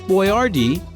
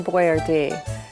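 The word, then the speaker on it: Boiardi: Hector Boyardee spelled his name B-O-I-A-R-D-I. And because a lot of people didn't know how to pronounce Italian names back then, he changed his name and spelled it phonetically.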